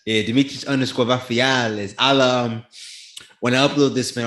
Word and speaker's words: Vafeiadis: Vafeiadis. Yeah, Dimitris underscore Vafeiadis.